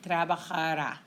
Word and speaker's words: trabajará: But we need the emphasis when you say it or when you write it, trabajará, okay?